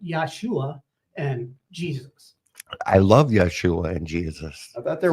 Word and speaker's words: Yeshua: above all other names should be Yeshua Yeshua and and it's also some people pronounce it yahushua and there's I know